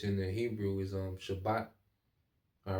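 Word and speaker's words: שַׁבָּת: the Hebrew is um Shabbat all right Shabbat okay um it going to it all right so it's not spelled like shabbath all right like the Sabbath but the Shabbat okay um so let's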